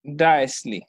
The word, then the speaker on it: diastole: तो इट्स नॉट सिस्टोल या सिस्टोली, नॉट डायस्टोली या डायस्टोल, इट्स सिस्टली and diastole. ठीक है, the O is silent in this part.